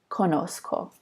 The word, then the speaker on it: conozco: before the C and it's kind of maintaining the soft C sound at the end of this verb conocer and this is pronounced conozco yo conozco and then